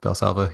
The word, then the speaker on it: Valsalva: So some of the things like, have you heard of the Valsalva technique? I think I'm Yeah. pronouncing that Yes. right. Yep. Valsalva.